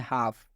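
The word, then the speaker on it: half: Example में लिखा गया है हाफ। आप देख सकते हैं हाफ में ये एल जो है एफ से पहले आया है तो इस एल का उच्चारण नहीं किया गया, और यहाँ पर स्पष्ट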